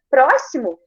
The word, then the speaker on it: próximo: Ó, próximo, eu tenho aí o X que representa 2 S na hora de pronunciar.